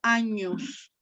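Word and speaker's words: agnus: acá vemos la cita, luego se pronuncia como años, y ahí el años dei, ¿no? El años dei como el cordero de Dios, ¿no? Entonces, suele ser de esos vocabularios, de esas palabras que se recuerdan de una manera más sencilla, pero con su otra pronunciación, con la pronunciación italianizante, ¿no?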